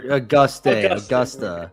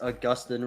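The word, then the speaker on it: Agustín: Or Augusta. Ramirez. Augustin. Yes. That counts. It's Augustin Ramirez.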